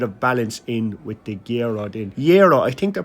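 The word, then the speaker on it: gyro: And then I did get a little bit of balance in with the gerro. Did yo, I think they're pronounced yero. You don't pronounce the G.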